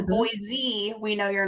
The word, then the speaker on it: Boise: So, it's pronounced b-o-i-s-e, Boise. If you say Boise, we know you're not from here.